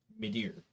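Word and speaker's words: Midir: actually no I'll say dark eater dark eater mider m i d i r d a r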